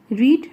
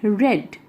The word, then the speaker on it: read: Okay, remember, it is those they are both are spelt just equally, means they are जो spellings are they are same, but they are pronounced differently. It is read and that is read. In the past tense it becomes read.